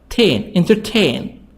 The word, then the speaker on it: entertain: Entertain. The stress on tain. So the stress here in the last part.